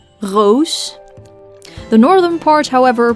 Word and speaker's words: roos: In the southern part of the Netherlands, we pronounce the R as a throat noise, the so-called French R, roos.